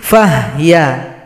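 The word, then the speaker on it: فهي: Fahiya menjadi fahya.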